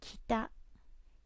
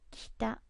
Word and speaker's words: 北: There it is, north, here, north, and the pronunciation is kita, kita.